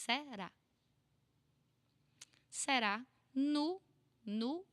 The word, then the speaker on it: no: Nu. Nu. I know that it's an O, but we speak nu.